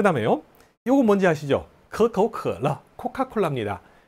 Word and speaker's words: 可口可乐: 可口可乐, 설근음으로 발음해야 되고요. 성조가 可 도 삼성, 口 도 삼성. 성조가 변하죠. 可口可乐. 예, 이런 식으로 발음하면 됩니다.